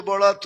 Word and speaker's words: বরাত: অথচ সবে বরাত ছিল, এটা বারাত ছিল না। বরাতরে আমরা বানায় ফেলছি বারাত। উর্দুতে 2টা লিখতে একরকমই, উচ্চারণে একটু ডিফারেন্স।